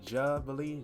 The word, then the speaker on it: Jubilee: or responding also to jubilee i think i pronounced it correctly jubilee j-u-l-j-u-b-i-l-e-e that's what this felt first bit i'm